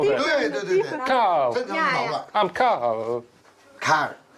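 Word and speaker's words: Karl: I'm Carl. Car. It's not car, it's Carl.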